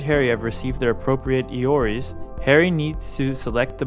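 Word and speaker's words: EORI: apply for a so-called e-o-r-i number or better pronounced as iori number iori stands for economic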